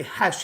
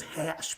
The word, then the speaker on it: Khash: Oklahoma, of course, so he doesn't say hesh, he says hash, because they pronounce their E's like A's. They have that kind of twang to it.